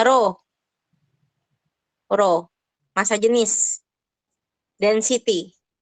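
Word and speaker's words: ρ: jenis itu satuannya adalah ro ini dibacanya ro ro massa jenis dan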